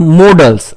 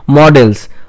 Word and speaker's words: modals: of auxiliary verb or helping verb is called modals okay remember the pronunciation is modals not models okay I have seen that many uh many